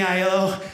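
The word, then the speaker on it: Aiello: My real last name's Italian. It's like Danny ILO. The A is silent, it's A-I-E-L-L-O.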